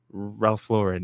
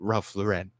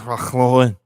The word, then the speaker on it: Ralph Lauren: Unless you're French, then it's Ralph Lauren. Yeah, that's fine. If you're French, that's how you say that name. in English is Ralph Lauren. Just how anyone named Lauren is that's how you pronounce it.